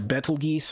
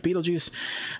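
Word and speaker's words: Betelgeuse: have heard before uh his shoulder star is named Beetle Juice or Bal geese I've heard it pronounced that way I don't think that's right I think it's actually Beetle juu uh beetle juu is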